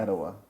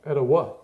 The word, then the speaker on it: Atiwa: Atiwa. Atiwa. Okay. Okay. Atiwa. I like it. Atiwa. Atiwa. With emphasis on the third syllable. Atiwa.